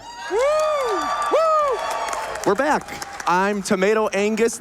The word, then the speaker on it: tomatoangus: I'm tomatoangus. The G is silent.